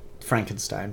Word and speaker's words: Frankenstein: the legend of evil Frankenstein Frankenstein it's pronounced frank enstein Sherlock Frankenstein in the